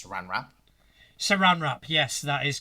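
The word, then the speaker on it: Sarenrae: so for example a lawful good worshipper of saren Ray will have a different edicts and anathemas than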